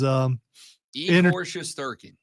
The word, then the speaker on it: Igor Shesterkin: I was trying to get the pronunciation down, and the way you say it is Igor Shesterkin.